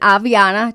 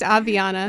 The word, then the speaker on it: Aviana: So this is a perfect time to visit Aviana. Did I say it right? You did. All right. That is a question we get a lot. Correct. Aviana. Okay, everybody all together now. Aviana.